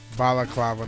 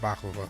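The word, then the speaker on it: balaclava: known for my pronunciation Bala clava not Baka same difference same difference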